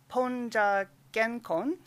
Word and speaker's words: PoNJA-GenKon: She is the co-founder of, been told to pronounce this as PoNJA-GenKon, which is a listserv that means post-1945 Japanese art discussion group, Gendai Bijutsu Konkandai.